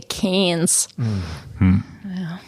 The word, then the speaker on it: Cairns: it's very complicated and they don't really pronounce their r's either so like we say cairns but they would say canes well before we